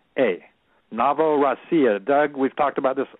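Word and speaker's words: Novorossiya: in the news and it's called navoo Ria that's spelled n o v r o SS i y a navoo rasia Doug we've talked about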